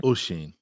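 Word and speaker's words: Oisín: Oshin.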